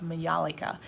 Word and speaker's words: majolica: And we will also be using the glaze technique of majolica, M-A-J-O-L-I-C-A. Majolica is the way that I was first taught to pronounce it, so I'm assuming that is acceptable.